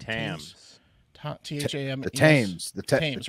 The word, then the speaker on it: Thames: london's how do you say it thames river times river what's this tam t-h-a-m the thames the teams right thames yeah the thames right the river